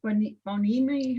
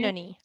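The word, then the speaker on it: Beinoni: I guess we're all supposed to try to become what's Bonimi? How do you say it? Benoni, a Benoni.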